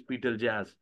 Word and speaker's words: Betelgeuse: So, I think that Betel uh Betelgeuse Betelgeuse, its its pronunciation is Betelgeuse.